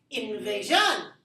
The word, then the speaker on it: invasion: three three it is invasion oh can you be you know shocked engage on its invasion nitrogen so not stress on the third syllable - on the second syllable here Lala five don't